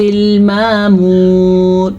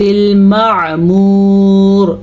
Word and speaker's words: المعمور: والبیت المعمور، آئین کے تلفظ کا دھیان رکھنا ہے. اکثر لوگ پڑھتے ہیں والبیت المعمور، یہ غلط ہے. اس کو آپ نے پڑھنا ہے والبیت المعمور. ما نہیں، ما حمزہ ہے، ما عین ہے.